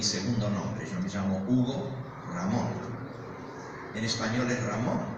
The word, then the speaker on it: Hugo: Porque la H se pronuncia fuerte, mientras que en español es muda.